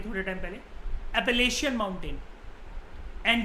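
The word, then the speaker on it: Appalachian: ऐसे ही north America के अंदर जो माउंटेन्स हैं, इनकी प्रोनाउंसिएशन होती है एपलेशियन माउंटेन। मैंने आपको बताया था ये थोड़े टाइम पहले, एपलेशियन माउंटेन।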